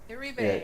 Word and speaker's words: Iribe: So Oculus co-founder and Facebook's head of PCVR, Brendan, is I can't not pronounce his last name, but is leaving the company following Facebook's cancelling. Iribe.